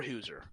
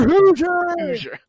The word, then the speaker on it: Hoosier: killing Crosshair all four Hooser for Hoosier I know I said it wrong I said it wrong on first but uh oh yeah